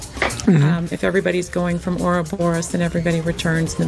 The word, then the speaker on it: Ouroboros: But it's not like, there's no phonetic. It's just like, going to be exactly as I read it. So all of you are saying it correctly by pronouncing it Ouroboros.